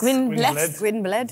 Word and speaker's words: Gwynbleidd: Which in Elven or Elvish is Gwynblade. In English, that will be pronounced how? Gwynblade? Gwynblade. It's Welsh, I think.